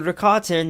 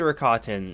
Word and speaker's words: Rakata: of like, what's the Rakatan? You know, who are the Rakatan? And you find all the, or Rakata. There's no N in that, Rakata.